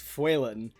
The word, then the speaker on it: Faolan: There is the other one for small wolf or wolf, which is Fuelan, and that is spelled Faolan, I think. That at least somewhat sounds like how it's spelled. Fuelan?